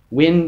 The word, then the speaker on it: wind: then you see here this is pronounced differently it's wind instead of wind wind to turn